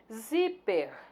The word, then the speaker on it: zíper: Zíper é uma palavra paroxítona. Olha aqui a sílaba tônica, zi.